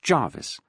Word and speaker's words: Gervais: Gervais, pronounced Jarvis.